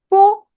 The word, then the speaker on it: 波: Okay, 波 when you pronounce 波 here, it sounds like the letter B in the word bat.